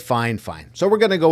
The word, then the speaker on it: FiFine: of me this is the new microphone from fine fine I'm sure that's how you pronounce it they the company actually sent this